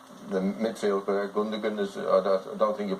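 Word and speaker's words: Gündoğan: The midfield player, Gundogan, I don't think you pronounce it that way. Gundogan.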